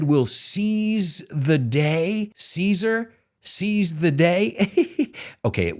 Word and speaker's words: Caesar: And we don't pronounce it Cesar. If you noticed, it's Caesar, like the salad, Caesar salad.